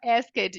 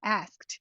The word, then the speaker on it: asked: a palavra Ask e toda hora eu falava esed e aí elas me corrigiam asked aí eu Ai putz